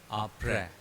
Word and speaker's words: après: They are pronounced as tra and après.